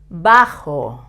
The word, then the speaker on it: bajo: I also um taught how to pronounce the J in the last lesson with the word Mujer it's like when you say he but Ma with much more force and vibrating a little bit your throat so it's force with your throat bajo it means short